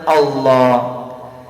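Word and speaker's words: الله: നിന്നാകരുത് അള്ളാ എന്ന് പറയുമ്പോൾ രണ്ട് ലാം ആണ് രണ്ട് ലാം ഒരുമിച്ചു കൂടുന്നതാണ് അള്ളാ ലാം എവിടെ നിന്ന് ഉച്ചരിക്കുന്നുവോ അവിടെ നിന്ന് വേണം അള്ളാ എന്ന് ഉച്ചരിക്കാൻ പലപ്പോഴും നമ്മൾ ഓതുമ്പോൾ അള്ളാ അള്ളാ ഇറ്റ് ഈസ് റോങ്ങ് പ്രൊനൗൺസിയേഷൻ തെറ്റായ ഉച്ചാരണമാണത് അള്ളാ അല്ല പിന്നെ ലാ ലാ എന്ന് പറയുമ്പോൾ എവിടെയാണോ നാവ് സ്പർശിക്കുന്നത് അവിടെ വെച്ചുകൊണ്ട് തന്നെ എന്നുവെച്ചാൽ പല്ലിൽ തട്ടാതെ വേണം അള്ളാ അള്ളാ അള്ളാഹു തൗഫീഖ് നൽകട്ടെ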